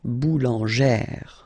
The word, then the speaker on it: boulanger: then feminine form boulanger boulanger same thing don't insist too much on the final boulanger okay all right and